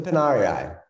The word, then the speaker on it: Pinarii: The Pinari, how do you pronounce it? Is it Pinari? The Pinarii.